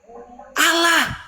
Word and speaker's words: Allah: Berarti kalau dalam bahasa Arab ketika harakat fathah Allah dibaca tebal bukan allahah atau harakat domah lullah bukan lullah kecuali harakat kasrah lilla.